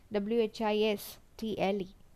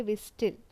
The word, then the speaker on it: whistle: For example, in whistle, W-H-I-S-T-L-E, T is silent. No? We never say whistle. It's whistle.